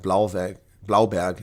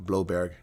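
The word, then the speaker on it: Blouberg: Heinrich says, I was taught to pronounce it Blauberg, not Bloberg.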